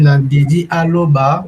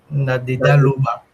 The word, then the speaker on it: Nadeda Loba: Je vois qu'elle a lu Nadedi Aloba, mais c'est vraiment Nadeda Loba. Tu as prononcé ça avec les bons tons, c'est ce qui est intéressant.